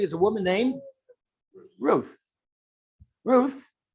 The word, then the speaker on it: Ruth: Ruth, Rus or Root, is spelled Resh, Vav, Taf.